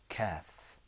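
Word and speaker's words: كاف: We've got the qaf and we've got the kaf. Okay? When you pronounce the kaf, you pull the corners of your mouth back. You go like this. Kaf.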